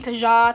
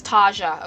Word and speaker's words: Taja: a while to understand how to pronounce her name cuz it really took me a while I was saying tja T I don't know what the hell I was saying but it's Taja okay I'm glad that I